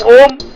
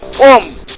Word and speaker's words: Om: What is the meaning of Om? Om or Om, pronounced H-U-U-M-M, is a sacred sound considered